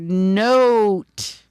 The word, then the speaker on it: note: It's the word note. Almost like not, but that silent e changes that from a a to a o sound. Note.